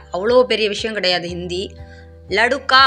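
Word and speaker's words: लड़का: லடுக்கா அப்படின்னு போட்டிருக்கேன் இல்லையா, அந்த மாதிரி படிக்காமல் லடக்கா, லடுக்கி அப்படின்னு மட்டும் படிங்க, அதுவே போதும். லடு அப்படின்னு படிக்கக்கூடாது.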